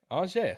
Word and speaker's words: Anže: It's Anže. Okay, Anže.